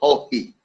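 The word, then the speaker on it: Haughey: The pronunciation of the word Hohe.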